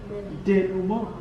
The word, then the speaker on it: denouement: The end is the resolution, or the denouement. Come on, 1, 2, 3. Denouement. Again, come on now. Come on, say it like you're French.